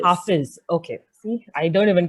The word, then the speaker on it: Hafiz: name is pronounced as Hafiz. Hafiz.